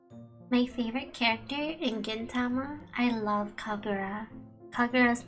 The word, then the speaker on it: Gintama: my favorite anime was Gintama yeah gin with a G not a k because if it's a k it turns into a different word so be careful out there pronunciation is important so Gama um I